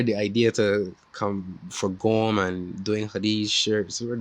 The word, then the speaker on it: Gome: to pronounce them and they pronounce gom g-o-m-e so i was like